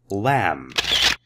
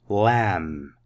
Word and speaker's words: lamb: Lamb. B is silent. Lamb.